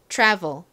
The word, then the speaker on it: travel: V 이렇게 소리가납니다 자 한국식으로이 단어를 읽으면 트래블이 됩니다 트래블 트래블 참 많이 쓰는 단어인데요 무슨 의미인가요 여행이라는 의미이죠 여행 여행하다 자 발음 연습해 볼게요 이티의 치 소리를 살짝 섞어서 발음을 해 보겠습니다 travel 한번 더 해 볼게요